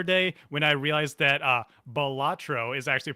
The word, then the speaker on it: Balatro: I realized I had this moment the other day when I realized that Balatro is actually pronounced Balatro, and I thought about it.